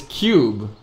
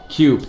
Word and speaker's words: QP: Okay, I got, it's Cube. Man, chat, I just opened chat because of the 5-minute delay. It makes it very difficult for me to see what is the pronunciation, like, coming through from the chat. And everyone's saying Cube.